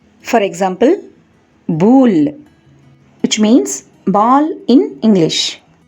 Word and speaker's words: boule: In French, the letter combination OU is pronounced more or less like the OU sound in the English word soup. That means OU is pronounced as OO. For example, boule, which means ball in English.